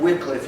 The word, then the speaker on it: Wycliffe: John Wycliffe. You may have heard that name pronounced Wycliffe.